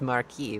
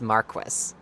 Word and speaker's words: Marquis: Yes, to us in our world it is Marquee, but in Final Fantasy 12 it is Marquis.